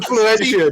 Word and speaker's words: Florentia: I imagine it's pronounced like Florentia. Do you know what I mean? Yeah, Yeah, Florentia, darling, yes.